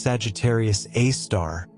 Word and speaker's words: Sagittarius A*: The supermassive black hole at the center of the Milky Way, Sagittarius A*, pronounced Sagittarius A star, weighs in at roughly 4 million solar masses.